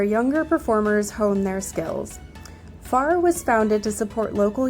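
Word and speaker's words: Phare: This is called fair. P H A R E. And it's supposed to be pretty amazing. So, off we go. We arrived at FAR, as I learned it is pronounced, early so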